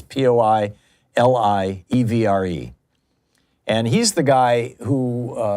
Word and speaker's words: Poilievre: I'm not certain how to pronounce it. It's Poilievre.